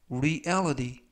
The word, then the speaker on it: reality: 이번 표현은 reality, reality, reality 라고 발음하시면 되겠고요. 이때 유의하실 점은 reality가 아니라 reality, 맨 끝부분에 있는 알파벳 T가 트 발음이 아니라 뜨 부드럽게 뜨, 그래서 reality 라고 발음하시면 되겠습니다.